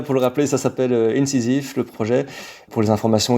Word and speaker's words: Incisiv: Donc ça s'écrit I N C I S I V. C'est ça. Tout à fait. Ouais. Incisif.